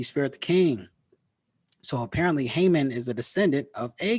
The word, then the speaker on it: Haman: and he says for Haman or amen because it's written in Greek so the H is silent but it's Haman the amen of Macedonian